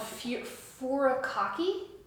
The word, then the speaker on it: furikake: How do you pronounce that? Gamas? It's gamashio. Gamashio. There's another one that's called furikake.